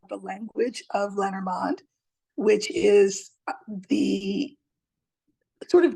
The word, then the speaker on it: Lenormand: Lenormand would be the French pronunciation, but we say Lenormand, we say Lenormand.